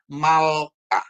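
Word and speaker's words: מלכה: ya Jadi kalau ini bisa kita baca jadi malka gitu ya mem la ko sama he jadi membacanya malka ya malka ini Ada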